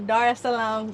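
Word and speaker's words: Dar es Salaam: with qu Essentials I am in the beautiful Dar Salam Tanzania did I say it correctly yes okay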